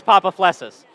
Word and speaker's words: Papaflessas: this all weekend long is it papa flessus yes yes what is actually right though all right so it is papa flesses all right on three